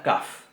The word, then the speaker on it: kaf: Entonces, Sin puntito, sin dagesh, la kaf va a sonar como nuestra J, pronunciada un poquito más adelante en la garganta, no pronunciada atrás como pronunciamos estas, sino que va a sonar ja, ja, ja.